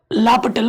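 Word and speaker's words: L'Hôpital: हॉस्पिटल लिखते हैं लेकिन जो प्रोनाउंसिएशन होता है वो होता है DL लापटल बोलते हैं रूल।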